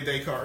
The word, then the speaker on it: Descartes: to have now I was talking about Rene Descartes really I'll do it again Rene Descartes the